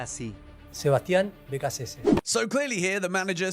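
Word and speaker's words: Sebastián Beccacece: De Sebastián Becachese es su primera. El nombre se pronuncia así. Sebastián Becachese.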